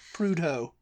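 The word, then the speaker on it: Prudhoe: north umberland and say prho PR PR PR prudo I mean PR prudo I you know what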